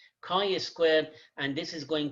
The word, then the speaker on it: chi: square it is written as chai but it's pronounced as chi chi squared and this is going to be x